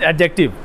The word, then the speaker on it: adjective: The third one इज एडजेक्टिव। एडजेक्टिव के अंदर डी है साइलेंट। क्या है? D silent. लिखते हैं एडजेक्टिव, पढ़ते क्या? एडजेक्टिव।